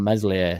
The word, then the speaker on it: Meslier: and it's not on mesli a silent s you know it just